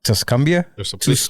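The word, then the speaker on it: Tuscumbia: really what that's unfortunate where she from Alabama tumia tumia how do you spell it t s exactly how I'm saying it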